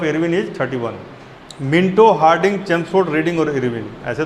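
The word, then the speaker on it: Chelmsford: चेम्सफोर्ड क्या नाम है? चेम्सफोर्ड, इसके स्पेलिंग में एल आता है, LMS, CHELMS, चेम्स स्पेलिंग, ठीक है, चेम्सफोर्ड।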